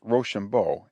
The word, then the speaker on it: Rochambeau: Our watchword was Rochambeau, the commander of the French force's name, for being pronounced Rochambeau, it sounded, when pronounced quick, like "Rush on, boys."